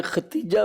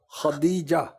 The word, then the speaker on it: خدیجہ: کے حقوق ادا کریں۔ حضور بعض لوگ خدیجہ کی یعنی دال کی وجہ ختیجہ بھی میں نے سنا پڑھتے ہیں، تو صحیح تلفظ کیا ہے اس کا؟ اب پہلے دال ہے، دال ہے، ہاں، خدیجہ، صحیح، وہ پڑھنے میں جلدی میں ایسے وہ ہو جاتا ہے۔ خدیجۃ الکبریٰ، جی، صحیح۔